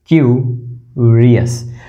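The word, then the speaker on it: curious: आधा क य उ की मात्रा और रियस, तो ये हो गया हमारा क, ये हो गया हमारा य, और ये है उ र ईयर्स, क्यूरियस।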